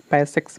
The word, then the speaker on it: PASSEX: पैसेज की spelling है PASSEX, पैसेक्स बोल सकते हैं हम इसको।